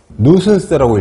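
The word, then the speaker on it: nuisance: 나와 있죠 성가심이나 불쾌감 누슨스라고 읽어요 누슨스 혐오감 평가심 귀찮은 보통 귀찮은 거.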